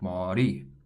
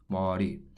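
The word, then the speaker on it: 마리: Saying ma-ri or ma-li both sound awkward. It's really a mixture of the R and the L sound, and it actually sounds like ma-ri, ma-ri.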